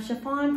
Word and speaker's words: Sha-Phawn: If you're new here, I'm Sha-Phawn, pronounced like the material.